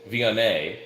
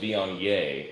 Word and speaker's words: Viognier: You said Viognier. Mm-hmm. We pronounced it Viognier in the past.